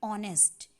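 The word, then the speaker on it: honest: ऑनेस्ट में ह silent है, इसलिए इसको प्रोनाउंस करेंगे ऑनेस्ट। इसलिए यहाँ पे द को दी बोलेंगे, दी ऑनेस्ट।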